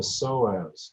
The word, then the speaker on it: psoas: So in your pelvis and your low back is a muscle called the psoas. It's spelled P-S-O-A-S.